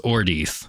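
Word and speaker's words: Ordeith: His name that he chooses, Ordeath. It means wormwood. Mm-hmm. And it sounds like Mordeth, his other name.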